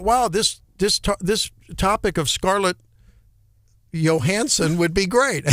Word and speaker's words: Johansson: Up there in the Great White North, they'd pronounce it Johansson. Yeah. Right. Yeah. Johansson. You betcha. It's not unreasonable to pronounce it that way. And but she's also a big enough star that I can't believe you don't just know that it's Johansson.